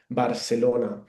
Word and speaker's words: Barcelona: Um you can see there that this the c sound um when I pronounce it uh it sounds a bit like the th in English like thunder.